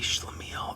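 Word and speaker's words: schlemiel: Um, so a good example is a schlamile.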